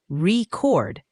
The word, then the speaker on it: record: But if you stress the second syllable, record, it's a verb.